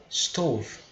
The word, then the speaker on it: stove: E o nome dele é stove, tá? Stove. Então, isso se chama stove. Lembra a pronúncia. O S no começo ela é bem suave, né?